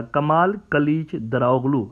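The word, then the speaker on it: Kemal Kılıçdaroğlu: है कमल कालेचरा लो आपको उसकी जो स्पेलिंग लिखी हुई नजर आई है अल में तुर्किश वर्जन है उसका कमल कालिज डरावलू अगर हम अपने साउथ एशिया एसेंट में इसको कहें तो इस तरह से होगा तो उनके लिए कहा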